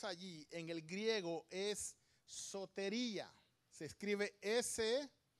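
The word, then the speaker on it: σωτηρία: Salvación, la palabra que encontramos allí en el griego es sotería. Se escribe S-O-T-E-R-I-A, sotería.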